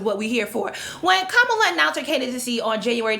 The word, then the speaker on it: Kamala: And I'm positive part of Kamala's strategy, Kamala, let me get that extra syllable correct, is to re-galvanize the center-right voters who voted for Obama in 2008.